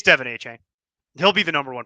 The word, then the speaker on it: Achane: I He know it's corrected the pronunciation. Davon A-Chan, I It's think is what.